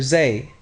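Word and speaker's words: زاي: Next, we have the letter z. This letter represents something similar to the English z, such as in the word zebra.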